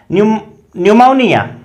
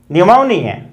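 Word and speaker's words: pneumonia: देखिए एन या एस से पहले पी से स्टार्ट, यदि कोई स्पेलिंग इस प्रकार की है जो पी से स्टार्ट हो रही है लेकिन उसके जस्ट बाद या तो एन आ रहा है और या एस आ रहा है तो पी साइलेंट रहता है।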